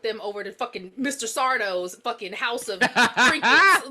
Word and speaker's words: Sardo: Sardo's fucking house of trinkets. Like it's Sardo. No Mr. accent on the dough.